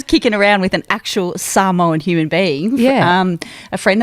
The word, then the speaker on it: Samoa: It's Samoa. It's pronounced Samoa. I was today old. I learnt that then. Yeah, because we Aussies say Samoa. Yeah, because I was kicking around with an actual Samoan human being.